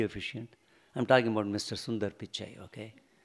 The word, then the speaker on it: Sundar Pichai: Mr Sundar pichai okay American TV says under pie I got used to that Jyoti is wondering who is sunderpai in IIT world the Casual looking butchered wearing even sometimes the button is missing that gentleman is called Sundar pichai you got very interesting